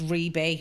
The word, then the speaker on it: Rhi-B: all of them so call me except for Facebook it's Reb Reb because they wouldn't let me have to call me so spell spell it R hi I space b Reb and it's rebay fire on all the